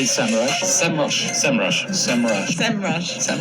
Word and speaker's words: Semrush: for a couple years now i've said semrush they very politely reached out to me and said by the way it's sem rush so if you're wondering this is how they want us to pronounce it as sem rush so let's talk about